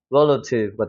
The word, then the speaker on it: relative: 여기 세게 읽으니까 알파벳 E가 강세가 들어가면 에 발음이 나는 경우가 많아요. 그래서 rel 하고 세게 찍어주고 여기는 어떻게 돼요? 수화 발음 약해지니까 relative가 되는 거죠.